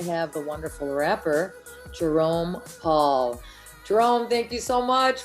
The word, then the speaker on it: Pawl: So tell me, Paul, Jerome Pawl, it's spelled Pawl. That's the first time I've ever seen it like that. Yeah, it's there's not really a reason for the W.